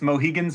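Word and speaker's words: Mohegans: this research, but uh, Naragansits, Moheagans, and Peekquats is how I would pronounce those and they would pronounce them at this point.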